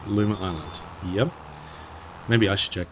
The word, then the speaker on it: Luma Island: Is it Lumia Island? Luma Island? Is it Luma? I mispronounced. Luma Island.